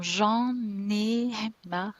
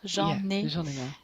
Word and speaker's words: J'en ai marre: It's good to have this Johnny Marr because it's really not pronounced the way it's written. No. There is a lot of liaison. J'en ai marre. J'en ai marre.